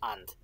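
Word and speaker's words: ⁊: So you pronounce this and.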